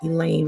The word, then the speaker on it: Elaine: in the lunch room elaine rhymes with pain while aldo's staring at